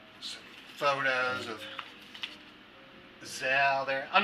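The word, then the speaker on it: Szell: with it it has like some photos of gazelle there i'm not sure how you pronounce it s-z-e-l-l i'm pronouncing it zell so somebody knows a better pronunciation please you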